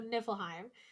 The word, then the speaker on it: Niflheim: go to different Realms we would always be like nipple Heim and I'm like it's not it but okay okay but that's a good way to remember how to say it correctly so niflheim um and that's the